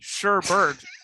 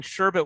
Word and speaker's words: sherbet: ralph's mouth for example they just in their head say sure bird even though that's not a word let the people have their fun no it's not a word people are saying it wrong they have been their whole life whenever in school everybody's